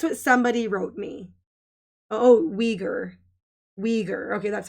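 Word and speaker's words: Uyghur: communist yes that's what somebody wrote me oh we ger we ger okay that's how you say it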